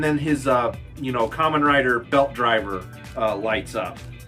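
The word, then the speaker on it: Kamen Rider: Okay, another thing that's really funny, people that review this figure, they don't even know what Common Rider is. They even pronounce it wrong. I've heard people say Cayman Rider.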